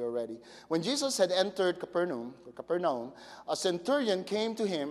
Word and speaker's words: Capernaum: Actually, I would really like to pronounce it the way they pronounce it there, Capernaum. I think that should be the right way to pronounce it. The Americans butcher that name, probably.